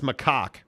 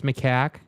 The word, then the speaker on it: macaque: Aaron Wilson says macaque. Okay. First of all, dude. Okay. That's not how you pronounce it. It's macaque, and that's a monkey that Elon Musk has been killing lately, okay?